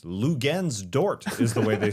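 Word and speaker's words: Luguentz Dort: Lou Gens Dort is the way they say his name in intros.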